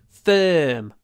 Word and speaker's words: firm: kind but firm firm it's a double sound uh remember the uh sound is pronounced with lips forward mouth open and the middle of the tongue pushed towards the top teeth form form form it's